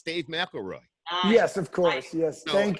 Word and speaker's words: McElroy: So it's Dave McElroy.